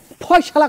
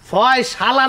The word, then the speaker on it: ফয়সালা: মানে আমি চলে যাওয়ার আগে একটা ফয়সালা করে যেতে চাই। এই মিয়া, হালা করতে গেছি কেন? ফয়সালা না, উচ্চারণ দেবে ফয়সলা।